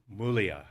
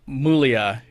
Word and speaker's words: Muglia: I mean, Muglia, it's spelt with a G. It's Italian.